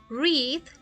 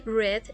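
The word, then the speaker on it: read: como ustedes pueden ver se escribe de la misma forma este verbo pero se lee diferente así y de acuerdo a cómo se pronuncia diferente nosotros podemos identificar si está en tiempo presente o en tiempo pasado reed está en tiempo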